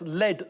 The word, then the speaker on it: lead: I know Although it's spelt the same, I think it's pronounced lead vocals.